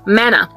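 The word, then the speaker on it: manna: do you call this Mana indeed it rightly rhymes with Hannah because Hannah was given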